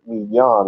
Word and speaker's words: Midian: Midian is the English word, but Midian is how you say it for real.